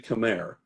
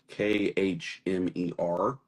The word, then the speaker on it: Khmer: Uh, yeah, it's actually Khmer is how it's pronounced, is the language, Khmer, and it has reached over there.